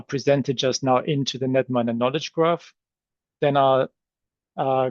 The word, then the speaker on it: Knetminer: NetMiner stands for knowledge network miner with a silent K.